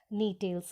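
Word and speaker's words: Gnetales: सो इनको 4 ऑर्डर्स के अंदर क्लासिफाई किया गया है, जैसे कि साइकोडेल्स, जिंकोएल्स, कोनिफ्रेल्स एंड नीटेल्स. यहाँ जी साइलेंट होता है तो इसीलिए नीटेल्स कहते हैं.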